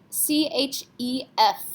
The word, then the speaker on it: chef: C-H-E-F. Yes, we have to pronounce this. C, R, F, and L are our careful letters. F is one of those, so we say chef.